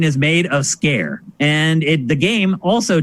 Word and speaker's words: Sker: of this game um it's called made of scare although if you read it you probably think